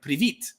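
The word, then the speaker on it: привіт: Hello, I learned the other day I know it's privyet in Russian, but it's like privit or privut. One of those in Ukrainian, little funny things like that.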